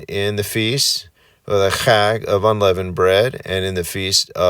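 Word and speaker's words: חג: And that's that you have to use your throat to say that word.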